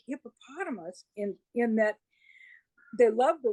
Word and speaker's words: Hippopotatomus: Okay, Dobby's YouTube channel is called Hippopotamus. So it's like hippopotamus with the word potato stuck in there. It's just an extra syllable.